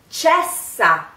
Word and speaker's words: cessa: Cessa crudel. Cessa means stop. So, cessa. It's not cesa or cesa. It's ch, ch, ch. In this case, the C is pronounced ch.